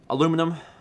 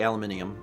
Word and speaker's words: aluminium: Aluminum. I don't say aluminium. I'm not... Is it British? Is that British English? They have an extra... I think they actually have literally an extra letter in the word.